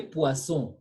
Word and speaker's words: poisson: pason, Do you pronounce N? paso, We say poisson, poisson.